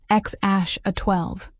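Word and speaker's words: X Æ A-12: XAA7, pronounced X-A12.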